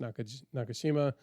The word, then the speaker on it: Nakajima: He goes, I'm thinking a Japanese torpedo bomber, the B5N Kate, which is the Nakashima, which is actually Nakajima is how it's typed out. But I heard it's commonly pronounced Nakashima B5N, and our designation and from America was called the Kate.